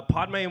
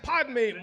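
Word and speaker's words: Padmé: we're pronouncing this name is it not Padme yeah because you said podme multiple times yeah that's true I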